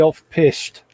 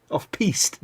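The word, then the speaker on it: off-piste: i might be going slightly off pissed i know you mispronounced that but we like it the way it was did i yeah sorry off piste dear yeah that's the one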